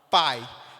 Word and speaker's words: pai: As vogais, elas são, a palavra pai. Percebe que o A, ele é pronunciado de forma muito mais forte? Pai. Enquanto que o I, ele sai mais fraquinho, não é verdade? O I é uma semivogal.